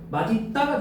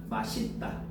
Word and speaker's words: 맛있다: 마딛다가 된다는 거야. 마딛다. 근데 원칙인데, 자, 예외적으로 뭐도 된다고요? 맛있다로도 된대요. 알겠지? 그러니까 이거는 예외 발음입니다. 허용한다는 거예요. 그러니까 원칙은 이런데 이것도 허용한다. 맛있다.